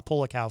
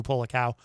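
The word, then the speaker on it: Polakow: for that track online i should probably spell uh pull a cow for you p-o-l-a-k-o-w andrew pollock cow uh up next on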